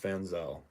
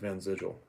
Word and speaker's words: Vanzel: Cuz my name is pronounced Vanzel. Not some people in America pronounce it Van Zigil or Van Zigel.